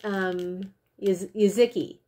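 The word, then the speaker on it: Jeżyki: So the first one, Giuseppe Coconut, Yuzuki is how it's pronounced.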